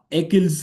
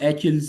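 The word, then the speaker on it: Achilles: anything better उसके बाद एकिल्स heal कुछ लोग इसको एचिल्स हील भी कहते हैं I will pronounce it एकिल्स heal so one weak point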